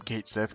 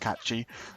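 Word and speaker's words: Cait Sith: I know it's it's really weird calling him Kate Sith cuz I know he's supposed to it's supposed to be pronounced catchi but I I associate that with the the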